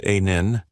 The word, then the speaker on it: Anneil: According to the rule, an Indian engineer calmly replied, "One, my name is Anneil, pronounced a nin.